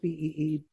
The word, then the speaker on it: Beebe: Is it pronounced Beebe?